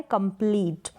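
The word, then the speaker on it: complete: तो कंप्लीट, तो यहाँ पर कंप्लीट करके इसको प्रोनाउंस ना करें, लॉन्ग होगा, रूल के अकॉर्डिंग कंप्लीट होगा, ना कि कंप्लीट।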